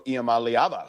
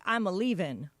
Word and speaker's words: Iamaleava: may have secured Nico Iamaleava, who is a local kid from Long Beach. So, Wait, how do you say his name again? Iamaleava. Iamaleava. Because I thought it was like, I'm a leaving.